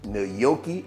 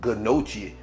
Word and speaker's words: gnocchi: particular uh pasta It's nooki I think that's what it how it is I would have called it g noi but I think it's nooki if I pronounce it wrong